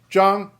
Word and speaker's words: Yang: You're just not and the yang is yang jang jang.